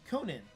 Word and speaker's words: Conan: Pronounced Conan, a Gaelic name.